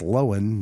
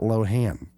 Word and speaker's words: Lohan: It's Lohan, not Lohan.